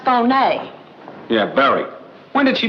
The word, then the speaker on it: Fier: Alexis Fier, pronounced Fon.